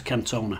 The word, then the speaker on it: Cantona: blog edit cam toner i think it's probably pronounced cantona son no it's cantona i know how to read that uh yes club cool